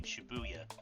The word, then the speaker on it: Shibuya: of shibuyu station while the numbers four to eight in Japanese can be pronounced the same as the syllables for the name Shibuya oh that's why it's